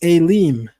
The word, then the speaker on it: Elim: The plural form of El is Elim, and you find that several places in the Hebrew Bible. That's spelled Aleph, Yod, Mem.